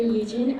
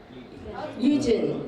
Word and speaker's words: Eugen: Eugene. I'm from Eugene. Okay, Eugene is the English pronunciation. Yeah. If there is an E at the end, then it's Eugene. The German pronunciation is Eugen.